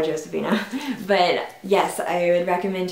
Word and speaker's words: Josefina: i would definitely recommend josefina or josefina however you want to pronounce it i know that some people don't do the j because that's like spanish and josefina but i just call her josephina but yes i would